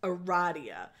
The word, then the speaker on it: Aradia: having a radio tell us her name is pronounced Aradia which is a baller move